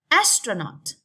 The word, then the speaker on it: astronaut: okay technology technology is straight on the second syllable astronaut astronaut young one more on the first syllable